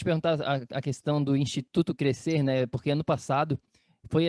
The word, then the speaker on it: crescer: O Instituto Crescer, a pausa, ela é intencional porque eu faço uma jogada com a pronúncia da palavra crescer, de crescimento, né? Mas se escreve cre e depois engole-se a letra C, né? E crescer, né?